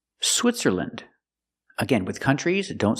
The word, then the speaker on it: Switzerland: Finland, Poland, Switzerland.